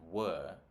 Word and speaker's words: were: these things is that usually the was and were are not pronounced in a stressed way. So I took this photo while we were traveling in Greece, right? While we were traveling in Greece. I don't say were, I say were, right?